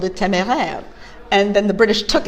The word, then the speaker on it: Téméraire: In French it's téméraire. Téméraire.